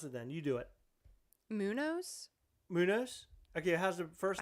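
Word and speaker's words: Muñoz: Hey, Happy New Year, Humberto Munez. Am I pronouncing that right? No, I don't believe so. You pronounce it then. You do it. Munoz?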